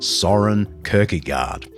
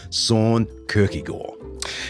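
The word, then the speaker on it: Søren Kierkegaard: I'm talking about the Danish philosopher-theologian Soren Kierkegaard, which is bad Aussie pronunciation of Soren Kierkegaard.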